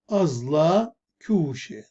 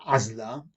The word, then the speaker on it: أزلة كوشة: أزلة كوشة، لا نقول عزلة، أزلة كوشة. انظروا كيف نضخم العين.